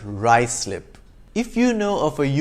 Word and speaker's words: Ruislip: not happensberg but haysborough five it's not ruislip but rye slip if you know of